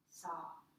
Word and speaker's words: Sau: And as we exhale, we mentally chant Sa, which is spelled S-A-U, but it's pronounced S-A-W.